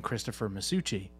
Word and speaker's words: Christopher Masuchi: you say my name my full name fast it is my name so if you say Christmas in sushi really fast it's saying Christopher masuchi Christmas Sushi or not